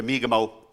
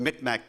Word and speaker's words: Mi'kmaq: Of course, Mi'kmaq is the territory of the Mi'kmaq people, namely, formerly, the Micmac people, which was just a simple mispronunciation on the part of our non-native brothers and sisters.